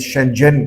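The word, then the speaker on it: 深圳: दूसरा शेंजन बड़ा इंपॉर्टेंट शहर है जिसको चाइनीज शेंजन करके प्रोनाउंस करते हैं और ये हांगकांग का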